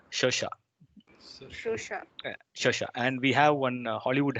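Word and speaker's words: Saoirse: guess is it's uh it's an irish name if you see the pronunciation has no connection with the spelling as such but that's how irish spelled their name it's shosha and we have one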